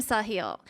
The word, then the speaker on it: Sahil: but uh his name his first name saw hill so i really recommend